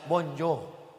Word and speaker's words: bonjour: mirip-mirip Tanjungbalai juga Hai tulisannya bonjur membacanya Bonjour sama sudah kalau sudah